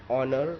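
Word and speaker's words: honour: ऑनर लिखना है, एच भी लिखना है, लेकिन बोलना है ऑनर।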